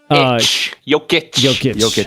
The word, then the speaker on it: Jokic: Jokic.